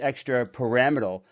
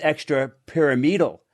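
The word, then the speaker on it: extrapyramidal: be a typo car you pronounce that word as extra paramal but this is extra pyramidal this is a pyramid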